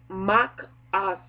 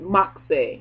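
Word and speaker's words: machaceh: word is spelled M-A-C-H-A-C-E-H, and it's pronounced Makaza. Or you can pronounce it Makse, Makaza or Makse. But it means a shelter, hope, a place of refuge. Makse, Makase, Makse. Just say Makse, just to be easy.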